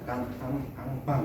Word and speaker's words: Kanban: Kanban, saya bacanya gimana? Kanban gitu. Itu bahasa Jepang soalnya.